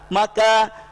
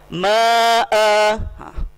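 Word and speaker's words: مع: Ma, tidak boleh disukunkan hamzah ini. Ma, salah. Yang boleh disukunkan di sini adalah khalifah. Sedangkan ma'a tidak boleh dibaca ma, salah. Tapi ma'a tetap sama seperti iwaja huruf-huruf yang lain.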